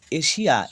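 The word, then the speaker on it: Asia: স্বরব মতে হয় তাহলে এশিয়া এস আই এ কি পারলাম শেষে যদি এস থাকে আচ্ছা আই এ দেখো এস এর পরে আই এ তাহলে এস এর উচ্চারণ তালুসা এশিয়া দেখি এগ্রেস এক্ষেত্রেও তাই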